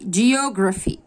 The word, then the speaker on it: geography: الدراسات الاجتماعية, geography geography geography geo و gra و bh نطقت ف, geography اللي هي الجغرافيا,